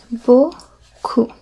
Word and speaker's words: beaucoup: And as you can see here, the P at the end is silent. Beaucoup.